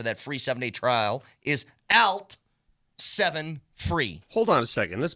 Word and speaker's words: ALT7FREE: Why don't you say alt? Altitude. Alt. You have to go alt, alt. Because Alt phonetically, it's an easier way to do it. Say- ALT7FREE.